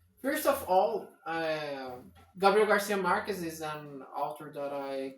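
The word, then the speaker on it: Márquez: Okay, It's Marquez. okay, In Marquez. English, I don't know. I think In English, for some reason they changed the stress, so it's Marquez. maybe.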